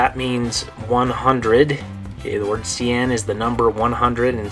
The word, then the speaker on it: cien: it's exactly 100, then you use this word, cien. Okay, good. So, by the way, how do you say it in Spanish? Good, cien.